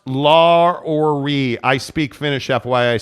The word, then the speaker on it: Lauri: It's pronounced Lauri. I speak Finnish, FYI. Say it right, Gonzaga. Wow. It's pronounced Gonzaga. Lauri.